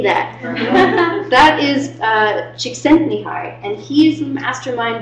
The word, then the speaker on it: Csikszentmihalyi: That is Csikszentmihalyi, and he is the mastermind behind flow theory.